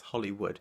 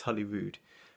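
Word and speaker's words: Holyrood: I think that's how you pronounce it. I'm trying not to pronounce it as Hollywood. It's Hollywood.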